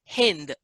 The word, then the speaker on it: Sindh: uh in that part they always pronounced s as h so instead of calling sindh it was pronounced as hind so and the people